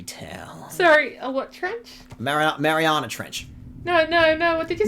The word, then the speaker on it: Mariana: No, you said marinara. Marinara? Yeah, Marinara Trench, man. The first time you went through, you said marinara, like a pizza.